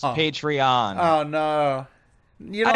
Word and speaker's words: Patreon: out of me is how he continues to say patreon when it's actually pronounced patreon oh no you know